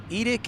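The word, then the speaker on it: EDCT: The aviation word of the day is edict. It's spelled Echo, Delta, Charlie, Tango. Edict is your expected departure clearance time or your wheels up time.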